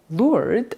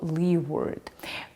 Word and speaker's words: Leeward: restaurant in Portland is pronounced like the original nautical term lur or lee word.